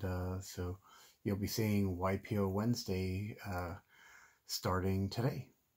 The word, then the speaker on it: Waipio: pew so this is ypo and so you uh pronounce it y like y and then p and o y p o it's